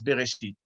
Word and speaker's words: Bereshit: So the opening word of the Torah is now pronounced as Bereshit.